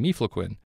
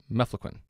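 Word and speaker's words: mefloquine: meatloaf sounds like meifloquin as a side note i'm intentionally mispronouncing me flaquin when it should be mefflequin but miflequin makes it easier to remember meatloaf now one last note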